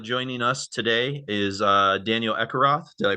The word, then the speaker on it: Ekeroth: But the Swedish one would be Ekeroth, Oh, but it's hard for Americans to pronounce it.